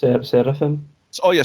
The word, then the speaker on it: Seraphim: Is that how you pronounce it? Seraphim. Oh yeah, Seraphim.